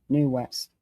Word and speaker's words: Nu West: And it's NU West. New West. It's not spelled like it sounds.